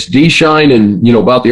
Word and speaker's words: Schein: You know, the EI is pronounced fine for the German spelling.